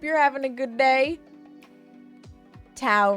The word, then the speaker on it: tau: Tau rhymes with cow is 2 times pi.